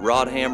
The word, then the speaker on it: Rodham: Is it a coincidence that Rodham rhymes with goddamned?